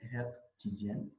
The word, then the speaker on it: hertzienne: مزيان بارتي 3 ريسبسيون دي نوند هرتزيان تقرا هاد الاتش حيت السيد راه الماني هاينريش هرتز هرتزيان بالفرنسي ما تقراش هاداش.